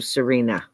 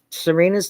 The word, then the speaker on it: Sarina: that's interested um where can we find you Serena oh okay so my shamanic practice is um